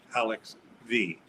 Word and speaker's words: Alexx V: the alex which was five six years ago and now the alex v and by the way the v is not to be pronounced as five as one might think v stands for the